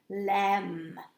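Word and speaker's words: lamb: you will know that starts with le lam a silent b the other day we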